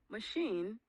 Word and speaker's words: machine: Some exceptions include asleep, machine, and hotel, which stress the second syllable.